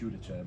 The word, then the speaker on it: Giudice: Yeah, so I was telling Brock this earlier, so I say Giudice is the correct way to say it. But when people ask the Italian way, it's Giudice. But just for simpler terms, Giudice.